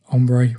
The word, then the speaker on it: ombré: And that is a word of French origin that stands for having tones of colour that shade into each other, graduating from light to dark.